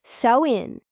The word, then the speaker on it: Samhain: They celebrated a festival called Samhine, pronounced so in.